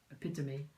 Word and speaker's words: epitome: epitome when you read it it looks like epitome but it's it's pronounced epitomy yeah it's like um the particular example of